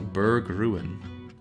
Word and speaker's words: Berg Ruin: You pronounce ruin like in English rather than German, so Berg Ruin.